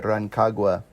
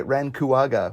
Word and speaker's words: Rancagua: Yes, I served my mission for the Church of Jesus Christ of Latter-day Saints in Chile, Rancagua, which I pronounced Chile Rancuaga when I opened my mission call.